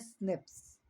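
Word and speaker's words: SNP: इसे प्रोनाउंस करते हैं स्निप्स। यस जो कि ह्यूमंस के अंदर पाया जाता है।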